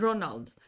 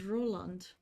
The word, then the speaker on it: Ronald: some chances for Roland there's Ronald I really thought it was Roland is it Ronald or Roland Ronald Ronald Burnett I think I've been pronouncing his name wrong all this time he's fine in my